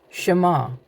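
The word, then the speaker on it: شما: Shema.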